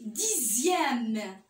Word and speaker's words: dixième: Dans d'autres cas, le X se prononce Z, comme dans le mot deuxième, sixième. Il y a un autre mot aussi, dixième. Ici, j'écris le X et je prononce le Z.